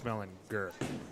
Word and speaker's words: Malinger: so D No, his last name is actually pronounced Gur. Dwayne Malinger. Correct. And he told us that 100 times? No, when I was on a road trip with him actually. He's like so many people pronounce my name wrong. I'm like what do you mean? It's Dwayne Malinger. He's like no, it's Malinger. I'm like oh, my bad. Didn't know you had a hard G in there.